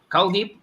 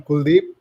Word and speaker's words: Kip: this is great okay CIP uh am I pronouncing your name right yeah I'm Kip ah K I'm sorry okay